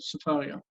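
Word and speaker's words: Sefaria: Sfaria? Yeah, it's the name of a site, so it has its own pronunciation, but Safaria.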